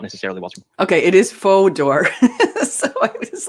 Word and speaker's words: Fodor: experiences were not necessarily watching okay it is faux d'or so i was like sorry if i mispronounced your name anywhere uh please take